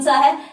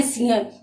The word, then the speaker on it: सिंह: हिंदी में कोई अपवाद नहीं है एक शब्द को छोड़कर, और वो शब्द कौन सा है, सिंह।